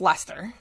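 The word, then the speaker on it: Leicester: old guy outside of a convenience store it's Lester I just really people can tell me around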